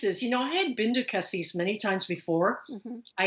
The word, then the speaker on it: Cassis: I was going to try to meet you last year in the seaside town, Cassis?